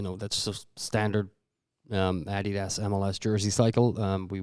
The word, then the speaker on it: adidas: appreciate your commitment to correctly pronouncing adidas which i feel like people listening are like what he's gonna do why is he doing this like european pronunciation about he does i'm like well that's actually the way it's supposed to be pronounced we just pronounce it adidas because we have forever yeah i think